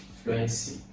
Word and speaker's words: fluency: Now, you have, first of all, there are 3 syllables here. You have fluency, and the stress is on flu.